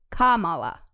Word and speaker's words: Kamala: it like that right kamala kamala yeah the accent is on the first a like in spanish when you put an accent on something yeah it would be on the first day it